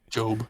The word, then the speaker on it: Gob: Did you call him Job? Job. Gob. How it's spelled. It is spelled Gob. Yeah. But you would never know it unless No. you had the subtitles on, at least not at this point in the show.